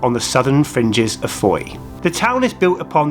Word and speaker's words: Fowey: The original name of Fowey, f o w e y, was simply Fowey, f o w e y. And as you know, the current name is still pronounced that way, i.e.